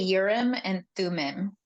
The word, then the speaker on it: Urim and Thummim: I say Urim and Thummim.